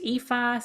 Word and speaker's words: Aoife: But my name is spelled Aoife, pronounced Aoife.